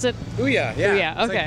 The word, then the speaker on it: OUYA: So, what was the reasoning for creating the OUYA system? Is that how you pronounce it? OUYA, yeah.